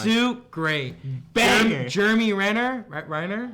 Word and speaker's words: Renner: Reiner? How do you say it? Jeremy Renner.